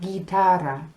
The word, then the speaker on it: guitarra: But G-U-I makes a G sound, and you know that because we have guitarra.